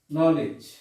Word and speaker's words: knowledge: এরপর হচ্ছে নলেজ, নলেজ বানানটা হচ্ছে কে এন ও ডাব্লিউ এল ই ডি জি ই।